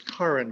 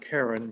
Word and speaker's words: Karen: uh karen armstrong and it's karen by the way not karen because she's british and that's the way it's supposed to be pronounced and she wrote this